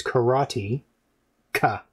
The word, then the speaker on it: karateka: collection here uh kratika i pronounce it crotica because it's karate ka right right wouldn't that make sense how can you say it in um japanese karateka well it's always like consonant vowel yeah constant valid concept but